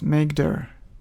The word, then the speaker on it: mkdir: For creating folders in Linux, we use mkdir command which is usually pronounced as make.